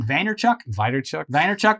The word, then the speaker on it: Vaynerchuk: Vaynerchuk.